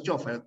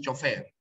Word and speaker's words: chofer: contexto no Por ejemplo si tienes chofer no la tildas Pues no porque tú no pronuncias chofer pronuncias chofer pero si tienes por